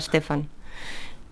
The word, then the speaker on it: Stefan: de Stephen Stefan sweig mi abuelo me regañó el otro día porque me dijo que no era Stephen que se pronunciaba Stefan me dice no sé